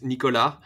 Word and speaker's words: Nicolas: The way you would say it in French is Nicolas, but it's really hard not to have people butcher it.